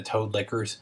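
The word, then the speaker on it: Toad Liquors: That's just an awesome name, the Toad Lickers. And it's spelled like liquor, like alcohol, Toad Lickers.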